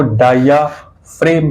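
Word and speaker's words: diaphragm: पाई जाती है जिसको डाया फ्रेम कहते हैं। स्पेलिंग क्या बनेगी इसकी? डाया फ्रेग्म। ये स्पेलिंग है लेकिन डायफ्राम इसको बोल देते हैं।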